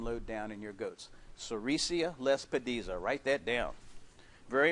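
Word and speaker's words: sericea lespedeza: and here's some of the things I recommend cesia Les peda is a wonderful plant for keeping your worm load down in your goats sesia Les dies are write that down very important yes it's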